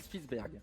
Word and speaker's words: Spitzberg: aurores boréales aux îles Spitzberg. Il y en a un qui est plus simple que l'autre. Ouais. Les îles Spitzberg. Spitzberg. Spitzberg. Spitzberg. Ok. Ouais. Alors je l'ai prononcé à la française, mais donc ce sont des îles.